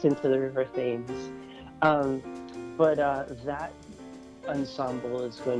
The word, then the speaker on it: Thames: a seagull, and so the seagull pronounces the River Thames Thames, and it's a good thing because he ends up rhyming it with flames.